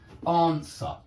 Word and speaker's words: answer: and that's not correct answer yeah you don't pronounce the W in answer that is